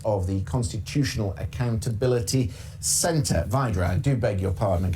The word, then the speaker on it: Wydra: into Joe Biden joined from Washington by Elizabeth Widow she's the president of the constitutional accountability Center Vadra do beg your pardon and get my pronunciations